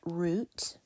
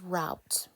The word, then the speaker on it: route: know about Ro e it can be pronounced two ways it can be pronounced as root or as route because remember that e